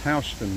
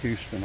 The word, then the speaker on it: Houston: And again, I think this is pronounced Houston Mill, not Houston. I think it's Houston Mill.